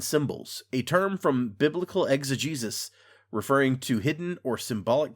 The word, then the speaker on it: exegesis: Well, that's the thing. It's like, it's not spelled like Jesus at all, but yeah.